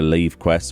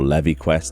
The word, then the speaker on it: Levequest: that's a change to leave quest or levy quest depending on how you want to pronounce that i know that there are people who pronounce it both ways it is just how